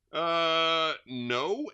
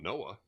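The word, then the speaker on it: Noe: No, N-O-E. How do you pronounce N-O-E? No? It's not Noah.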